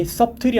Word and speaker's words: subtle: 발음 안 해요. subtle 이게 형용사 형태거든요. 발음이 subtle이 아니라 subtle입니다. subtle 미묘한 이란 뜻이에요.